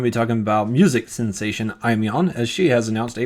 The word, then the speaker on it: Aimyon: If you're an Aimyon fan, this is definitely something to look forward to. You're saying it wrong. It's Aimyon. Aimyon.